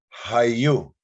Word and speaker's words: haiyu: somebody's name is uh we spell it with the single u but it's actually an elongated vowel sound it's a it's not